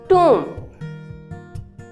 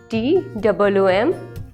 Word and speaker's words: tomb: Tom. Is it the right pronunciation? No, the right pronunciation of this word is tomb. हम इसको pronounce करने के लिए क्या बोलेंगे? TOOM.